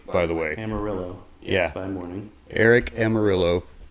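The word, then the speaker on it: Almirola: Almirillo. Eric with an A, by the way. Amarillo.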